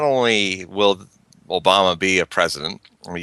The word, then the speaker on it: Obama: at last before his second term is over pronounce Obama's name properly in the Swahili way that Obama is is Obama um and UB means it's